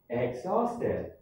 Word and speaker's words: exhausted: Number 5, exhausted. Exhausted. Exhausted. You have exhausted. So the H is silent.